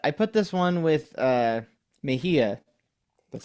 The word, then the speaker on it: Mejia: I will say I kind of like, put this one with Mejia.